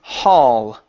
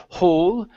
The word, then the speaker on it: hall: is uh the word Hall okay so uh good L sounding here at the end also our vowel instead of whole with an o sound it's a a hall at Town Hall at